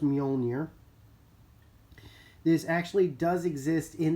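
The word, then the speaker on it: Mjölnir: This is Thor's Mjolnir keychain, and yes, it is pronounced Mjolnir.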